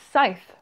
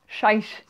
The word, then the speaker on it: Scythe: that book name now it's scythe not shy or whatever I said in my else TBR